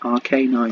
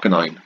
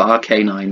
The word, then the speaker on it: Arcanine: Arcanine. Arcanine. Not Arcanine. I'm going for Arcanine because of, you know, canines.